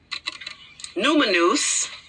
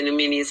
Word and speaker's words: Numenius: Numinous, that's what we pronounce. I want to say Numenius, but Numinous.